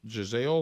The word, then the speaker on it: Gisele: you say her name Giselle is it Gisele Giselle is that right yeah so anyway she uh